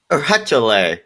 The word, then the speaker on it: Urcuchillay: Meanwhile, the Incan people saw this as Eurydice, which is a llama deity that watched over animals. Retell. Excellent pronunciation.